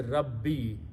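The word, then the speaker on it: رَبِّي: When you combine these, it's pronounced as a Rabbi, my Lord.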